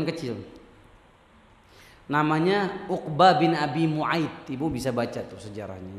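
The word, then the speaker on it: Mu'ayt: Nabi punya teman kecil namanya Uqbah bin Abi Mu'aid. Ibu bisa baca tuh sejarahnya ya. Uqbah bin Abi Mu'aid. Di dalam spelling lain dibacanya Mu'id, tapi yang benar dibacanya Fathah, Mu'aid.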